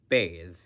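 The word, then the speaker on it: בית: mind for this letter if it's got a DOT it's B with a B if it's if it doesn't have a DOT it's V with a V so offensive CL Island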